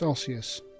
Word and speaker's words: osseous: So it's pronounced osseous.